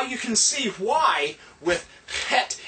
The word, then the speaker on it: Het: It's kind of a Het, Het, and it's a quick guttural.